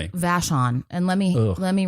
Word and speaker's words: Vashon: Vashon.